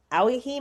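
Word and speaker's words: Owyhee: in the Ahi mountains, Aihi Mountains is spelled o wy h e.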